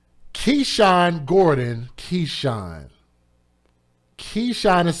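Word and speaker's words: Keishawn: Keshan. Keshan is spelled K E I S H A W N.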